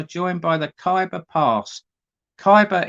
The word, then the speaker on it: Khyber: by the kyber pass Kaiba is spelled k h y b e r Kaiba or hyber hyper past